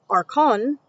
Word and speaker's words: archon: using the Greek kafale, using a stronger word, archon, a r c ho n, to convey that meaning.